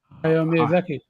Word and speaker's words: Hayao Miyazaki: Hayao Miyazaki.